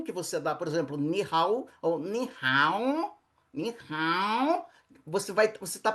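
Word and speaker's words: 你好: Pronuncia-se ni hao.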